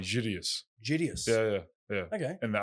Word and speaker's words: Gerges: Gerges. If you want in the Arabic, it's funny. They actually kind of don't pronounce the second G. They say Gideus.